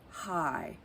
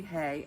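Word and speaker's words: Haigh: Mrs Kimball by Jennifer High I guess that's how you pronounce it I looked it up to see might be hey h-a-i-g-h this is her very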